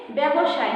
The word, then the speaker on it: ব্যবসায়: ব্যবসায় হবে। কেন ব্যবসায় হবে? যে আদ্য বর্ণের সঙ্গে কি আছে? জ ফলা আছে। আদ্য বর্ণের সঙ্গে জ ফলা থাকায় সেটার উচ্চারণটা কি হবে? অ জ ফলা আকার হবে।